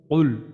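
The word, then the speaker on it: قُلْ: কুল, এখানে আমাদের হচ্ছে কফ, তাইলে আমাদের একটা উচ্চারণটা হবে কুল, কুল হুয়াল্লাহু আহাদ, এটা হচ্ছে।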